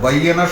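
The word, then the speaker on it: بيّنة: তো বাইয়িনা শব্দটি বাইয়িনা হিসাবে উচ্চারণ করলাম, কারণ ব্যাখ্যা কোরআনই করে দিয়েছে।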